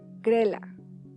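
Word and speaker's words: Grelle: ¿Grill? Nosotros lo pronunciábamos Grela, o a veces Gorila. Había sido el corredor más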